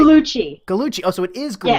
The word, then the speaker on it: Gugliucci: Gugliucci.